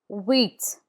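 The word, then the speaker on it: huit: The H is never pronounced in French. So we start with wheat.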